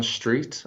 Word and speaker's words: Streete: with me very simply my name is Street and on the end of Street there's a silent E so you can find